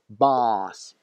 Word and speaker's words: boss: Должно быть boss, длинный А, boss, boss. Bus, автобус, boss, начальник.